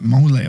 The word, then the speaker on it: mole: One that I really liked was black bean mole. Do you say mole? Is that how you say it? Mole or mole? I thought so. Oh, you nailed it.